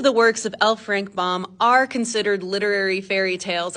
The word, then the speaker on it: Baum: where Alaba came from L frank bomb I said it wrong in my last video we all make mistakes